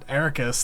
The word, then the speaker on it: Eraqus: Like I'm interested to see like why was Eraqus, that's how you pronounce his name, right? Yeah, Eraqus.